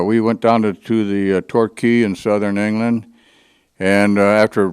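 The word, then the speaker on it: Torquay: Spanish and it mean it's pronounced key like the Florida keys but uh we went down to the Tor key in Southern England and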